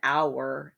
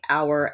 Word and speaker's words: hour: have perfect rhyme and here you have to hear the word hour as two syllables for this one to work hour and flower the wild honeysuckle poem